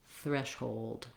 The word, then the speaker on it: threshold: So old, if it helps you to think about that W being there and that schwa being there, that's going to help you pronounce it more easily.